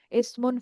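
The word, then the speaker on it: اسم: যদি একটু জুম করি, ইসমুন ফেআলুন হারফুন। তো আপনারা সম্ভবত জানেন যে আমরা যখন আরবিতে কোন একটা শব্দ বলি এবং বলার পর থেমে যাই, তখন শেষের যে হরকতটা, সেটা আমরা উচ্চারণ করি না, যার কারণে এগুলাকে আমরা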